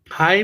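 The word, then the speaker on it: high: इसी तरह से the birds are flying हाई इन द स्काई, हाई में जी क्या है?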